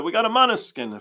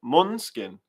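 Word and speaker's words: Måneskin: We got a Monoskin fan. No, I said it wrong, huh? Monskin.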